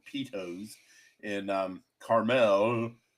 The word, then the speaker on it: Carmel: called Pitos in um Carmel. It's it's caramel, but it's you know the people that live there pronounce it. Caramel garlic caramel.